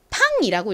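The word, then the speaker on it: Le Pain: 근데 여기서 이 PAIN 이건 영어식으로 읽으면 AI가 A 소리가 나서 pain 이렇게 발음이 되거든요. 그런데 이 빵집의 이름은 르팡입니다. 이 PAIN을 pain으로 읽지 않고 팡이라고 읽는데 그 이유가 이게 영어 단어가 아니라 프랑스 단어인 거죠. 그래서 프랑스의 발음법을 따라서 읽으니까 팡이 된 겁니다.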